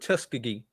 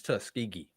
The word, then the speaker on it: Tuskegee: And as as a Tuskegee alum, I I have heard Tuskiggee on broadcast before. Really? Wow. Yes, it is Tuskegee.